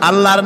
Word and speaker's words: আল্লাহ: আল্লাহর নাম আল্লাহ। বলেন তো, আল্লাহ নয়, কিন্তু আল্লাহ হচ্ছে অশুদ্ধ, শুদ্ধ হচ্ছে আল্লাহ। বলার সময় মুখটা গোল হয়ে যাবে।